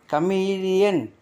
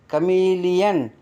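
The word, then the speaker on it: chameleon: யா உச்சரிப்பு தியரி தத்துவம் கமிலியன் கமிலியன் அந்த ஓவுக்கு என்ன உச்சரிப்பீங்க யா கமிலியன்னா பச்சவந்தி சீனியர் சீனியர்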